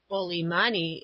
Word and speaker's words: Oli mani: Oli mani is the native pronunciation of old man, which by Society Islanders talking Saxon is applied indiscriminately to all aged things and persons whatsoever.